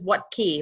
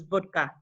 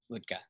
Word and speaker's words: Wuttke: I was told is what key bike what key would you use to open your garage but the real pronunciation is vodka vodka okay I think I